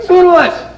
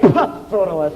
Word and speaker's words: Pseudolus: Pseudolus! Pronounced perfectly. You know, a lot of people say Pseudolus, and I hate it.